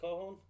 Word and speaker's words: Kohon: His last name is pronounced Kohon. Kohon.